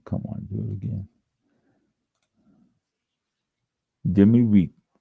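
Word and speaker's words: demi-muid: Demi we doesn't sound anything like is spelled d e m i m u i d.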